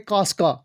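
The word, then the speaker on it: Casca: और जो पहला वाला हमारे पास है इसकी प्रोनाउंसिएशन है कासियस, और जो हमारे पास यहाँ पे है उसकी प्रोनाउंसिएशन है कास्का।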